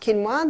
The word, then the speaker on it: quinoa: become familiar with it's spelled quinoa but it's pronounced quinoa the Aztecs love their quinoa Aussies are starting